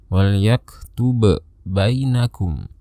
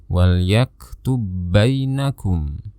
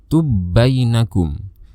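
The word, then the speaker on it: يَكْتُبْ بَيْنَكُمْ: Maka cara bacanya menjadi seperti ini, wal yaktub bainakum. Jadi seolah-olah kita hanya mendengar ada satu ba yang bertasydid, tubainakum.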